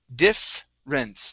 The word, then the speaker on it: difference: So this ER, or the E really, right after the double F, we do not want to pronounce. So instead of saying difference, it's difference, difference.